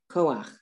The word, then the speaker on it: koach: When you have the letter chet and the ah vowel under it, you pronounce it ach. Ach. It's not cha, it's ach. You pronounce the vowel and then the letter when that combination comes at